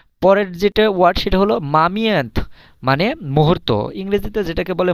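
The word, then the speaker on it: момент: আচ্ছা, পরের যেটা ওয়ার্ড সেটা হলো মামিয়ান্থ মানে মুহূর্ত। ইংরেজিতে যেটাকে বলে মোমেন্ট। মোমেন্ট মানে কি মুহূর্ত, কিন্তু রাশিয়ান ভাষায় এটাকে বলে মামিয়ান্থ। মামিয়ান্থ মানে মুহূর্ত। উচ্চারণটা কিন্তু প্রায় কাছাকাছি, জাস্ট হালকা চেঞ্জ।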